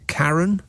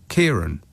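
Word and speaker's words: Ciarán: Is that Karen? Or is it Kieran? Kieran.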